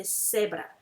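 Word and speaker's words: cebra: use ce instead example zebra in english is zebra we say sebra zero in spanish we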